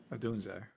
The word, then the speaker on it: Odunze: Odunze? Odunzie. Dunzi. That's what I usually say. How do you say it? Odunze.